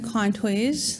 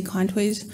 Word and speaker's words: Contois: So my name is Contois. That's how I pronounce the last name. A lot of people out in Manitoba would also say Contois.